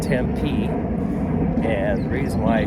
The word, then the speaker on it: Tempe: And the accent is on the last syllable, I guess.